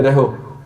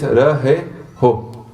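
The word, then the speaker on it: ਰਹਹੁ: Some people say reho. I say it as well sometimes. But it's rahe ho. So make sure you pronounce both the hahas.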